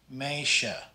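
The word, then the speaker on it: meisje: with an s and s j sound is pronounced like an sh in english so this is pronounced meisha the tj is pronounced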